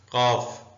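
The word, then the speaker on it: calf: उर्दू में ऐसे लिखेंगे इसका मतलब है बातचीत कॉफ ये एल साइलेंट है उर्दू में ऐसे लिखेंगे बछड़ा गाय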